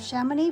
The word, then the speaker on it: Chamonix: That's Chamonix. So I'm not sure how you pronounce the X. It might be silent. I'm sure it is.